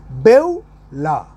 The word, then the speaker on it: Beulah: b e u l a h bevella the pronunciation will be bella so the tell here is the bevular spirit